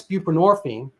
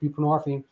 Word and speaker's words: buprenorphine: But to be fair, Suboxone came along, and that's buprenorphine, and people are like, what is that? Well, I mean, the hint is it rhymes with morphine, which is derived from